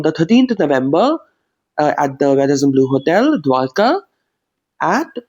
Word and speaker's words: Radisson Blu: Rather, in French, the pronunciation would be like Radisson Blu.